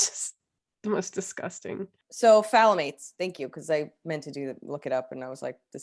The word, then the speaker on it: phthalates: I watched 2 of the most annoying videos on how to pronounce it. It's phthalates.